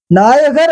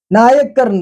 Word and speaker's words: நாயக்கர்: தமிழுக்கானதா அது இலக்கணப்படியானதா அப்படின்னா இல்லை நாயகர்னு சொல்ல முடியாது. நாயக்கர்னு தான் சொல்ல முடியும். ஏன்னா அந்த யானாவுக்கு அடுத்து கானா வந்துச்சுன்னா இடையில இக்கனா வரும். சேர்த்து எழுதுனா இக்கனா வரும். தனியா எழுதுனா அத இக்கனா சேர்க்காம கூட எழுதலாம். ஆனா சேர்த்து எழுதுனா இந்த இலக்கண வரையறைன்னு ஒன்னு இருக்கு இல்லையா அந்த வரையறைப்படி நாயக்கர் அப்படிங்கிற வார்த்தைதான் சரியான உச்சரிப்பு.